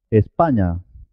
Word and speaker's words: España: letra típica del español ñ solo tiene un sonido pero este sonido es muy importante en español por ejemplo en palabras como niña no a araña cómo se pronuncia la siguiente palabra españa baño la p la